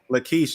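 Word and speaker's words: Lachish: said languish uh inscriptions that's like that's lakeish that's how you say it laquish the kish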